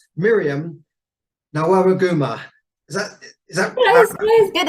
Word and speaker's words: Nawagamuwa: Miriam Nawagamuwa. Is that Close, close. Good effort, good effort. Yeah, no, always there. Nawagamuwa. Okay, Nawagamuwa.